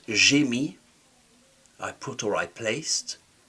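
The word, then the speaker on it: mis: M I s is silent. Jimmyi I put or I placed to be is quite useful when we start to see the passive in French.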